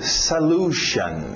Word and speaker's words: solution: Salu, cuidado com a pronúncia aqui, solution, solution. Okay? Solution. Geralmente esse S acaba entrando no L.